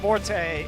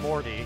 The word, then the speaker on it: Morty: way are dealing death the proper pronunciations are valaya and Morty we have actually asked the players this it's not morte it's Morty I've seen people you